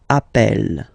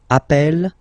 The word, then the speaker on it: appelle: You tend to pronounce it like really open. That's the reason why you pronounce it appel, okay, appel, and appel.